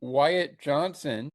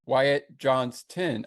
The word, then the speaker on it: Wyatt Johnston: Wyatt Johnson. Wyatt Johnston, I should say.